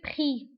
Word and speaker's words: prix: فبالنسبة le prix كنكتبوها بإكس في آخر الكلمة ولكن ما كنطقوهاش كنقولوا le prix.